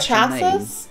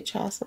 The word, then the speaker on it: chassis: It's got a special chassis? Name. Which is spelled like this. Chassis.